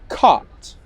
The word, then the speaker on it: cut: So, caught. Can you hear the vowel sound? It's a long vowel sound. Caught. Okay, let's compare that to cut. cut, cut, cut. Court is long, cut is short.